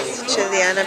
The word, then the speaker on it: Sicilia: Good Siciliana pizza. Basically, Sicilia means Sicily. It's pronounced Sicilia.